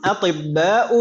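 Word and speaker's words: أطباءُ: Atibba'u ini kenapa tidak tanwin kita bacanya tadi? Kan tadi polanya karena ini ism mamdud yang polanya af'ila'u gitu ya.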